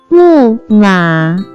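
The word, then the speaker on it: 木马: can be pronounced as 木马，木马，木马。 Let's break down it to understand it even more. It has 2 characters, pronounced with 4th and 3rd tone.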